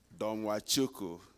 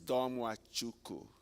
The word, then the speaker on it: Domachukwu: Thank you, and I'm glad that Enrique, you said it right, Domachukwu. For those who struggle to say the long name, it's only 4 syllables. It's Domachukwu.